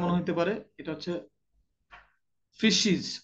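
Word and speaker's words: faeces: animal উচ্চারণটা difficult মনে হইতে পারে এটা হচ্ছে ফিশিস উচ্চারণটা রিয়েলি ভেরি ডিফিকাল্ট ফিশিস এফ এ ই সি এস ফিশিস ফিশিস মানে গোবর মানে গোবর জাতীয় প্রাণীদের প্রাণীর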